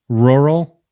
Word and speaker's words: rural: I feel like you can't, if you open your mouth too far and you try to pronounce rural. Rural. But if you don't open your mouth, it comes out rural. Yeah. Yeah, like don't enunciate it. You almost don't like, even, you just kind of roll right over that second R.